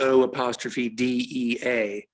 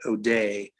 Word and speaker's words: O'Dea: last name was O'Dea, spelled O''D''E''A. And I think in the United States, we usually pronounce that O'Day, but over there they say O'Dea.